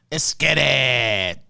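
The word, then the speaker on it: Esskeetit: 2020 escaped it real donald trump okay it's pronounced esketit okay it's pronounced what the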